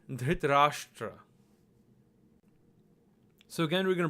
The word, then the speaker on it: Dhritarashtra: Now we're going to write the name Dhritarashtra. So again, we're going to break this down by syllable, and if you listen carefully, you'll see that there are 4 syllables. Dhr, Ta, Ra, and Shtra.